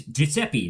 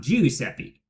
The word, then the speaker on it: Giuseppe: The same way that my name, when translated into Italian, is Giuseppe, not Giuseppe.